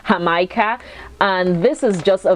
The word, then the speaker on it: Jamaica: I used to pronounce it Jamaica, but I noticed that Mexicans pronounce this Jamaica, and this is just a very, very good drink.